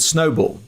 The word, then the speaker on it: Snoball: and she runs a firm she founded called snowball which is pronounced which is spelled s n s-o-s-n-o b